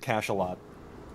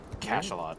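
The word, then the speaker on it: cachalot: just looked it up Google pronounces it Cash aot Cash aot okay what is a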